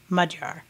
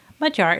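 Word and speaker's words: magyar: you a little hint first of all that gy in the center is actually a letter in the hungarian language and it has a sound that is similar to the dg in the word edge i like to teach the pronunciation of mudjar to people using two words we are familiar with saying in english mud and jar using this phonetic approximation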